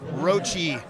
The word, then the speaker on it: Roche: It is Roche. We've confirmed several times. Yeah, we asked him. It's not spelled the way you would think you'd pronounce it, but and hey,